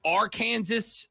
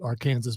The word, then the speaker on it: Arkansas: does say Celtics but does he really say are Kansas too uh here's what I will say about that tournament is how that word is correctly pronounced Celtics is what the word is AR Kansas I just say to be a smartass because it bothers people from Arkansas that's the only reason